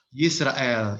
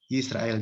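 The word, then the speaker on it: ישראל: Itu Yisrael ya. Yisrael, Y S R L ya.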